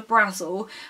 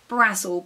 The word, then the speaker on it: Brazil: school girls by angela brazel her surname is spelt brazil as in the country but she pronounced it brazel because i think she